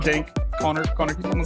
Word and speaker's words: Kahner: I am just Connor. So just Connor, like spelled like this. It's backwards. Kahner for the listeners. That's actually my real name. No English teacher ever got it right except for my wife.